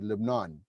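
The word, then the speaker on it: لبنان: I'm gonna say Lebanon because the Lebanese called their country live non that's true yeah yeah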